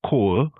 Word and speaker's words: cold: Uh cold is cool, but wood is still wood.